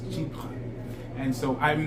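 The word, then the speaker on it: Chypre: pronounce it correctly because some people call it chipper which is okay that's how you pronounce it that's how you pronounce it but he had an episode where um the person taught it how to pronounce it correctly and it's cheap and so i'm not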